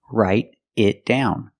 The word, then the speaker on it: write it down: Example, it write it down. Pronunciation. Write it down. The T in write changes to a fast D.